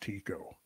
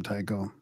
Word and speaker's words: Tycho: And from my scholarship days, I recall that Tycho was actually pronounced Tico. Yeah, yeah. I can't get away from Tycho.